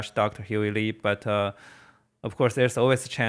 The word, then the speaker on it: Huey Li: Huey Li.